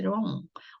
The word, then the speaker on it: wrong: 자, W하고 R이 붙어 있으면요. W가 묵음이에요. 이게 소리 없어요. 그래서 wrong 발음만 나죠. something is wrong. 우 발음 안 나요.